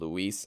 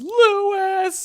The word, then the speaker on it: Luis: Louis. No, not Lou. So pronouncing it like it's French. So Louis! that ends chapter 3.3-3. So Luis unfortunately has perished.